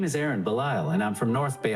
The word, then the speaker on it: Ahren Belisle: everybody like they said my name is Aaron bile a perfect stage name it's spelled Aaron with an h and bile with an S I guess my parents